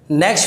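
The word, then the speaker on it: knack: Next word है नेक। नेक एक NEC के होता है, नेक गर्दन, और ये भी नेक है, के साइलेंट होता है, अ स्पेशल वे ऑफ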